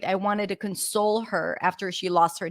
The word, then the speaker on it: console: right I wanted to console her after she lost her dad console notice the difference in pronunciation console stresses on the first syllable or console two different words two